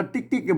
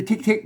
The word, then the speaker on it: ติ๊ก ๆ: อ่า ติ๊ก ๆ เ อัน นี้ อ่าน ว่า ติ๊ก ๆ ไม่ ใช่ ทิก ๆ นะ เนี่ย คน ทั่ว ไป มา อ่าน ไว อ่าน ว่า ทิก ๆ นี่ มัน ก็ เลย